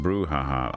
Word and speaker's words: brouhaha: So it's pronounced brouhaha.